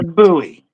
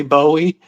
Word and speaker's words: Bowie: Can you guys It's a buoy. A buoy. Yeah, a buoy knife. It's it's uh it it's got a definitely a weird pronunciation. It looked like it looks like it could be Bowie and a lot of people over here do say Bowie, but uh the actual